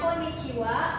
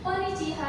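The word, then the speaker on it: こんにちは: Pertanyaan yang bagus Fitria, kenapa dibacanya koniciiwa? Kenapa dibacanya kombang wa? Kenapa bukan koniciiha dan kombang ha? Itu karena ee hurufana itu sebagai penanda partikel gramatikal sebagai ee tanda sebuah di sebuah kalimat tersebut.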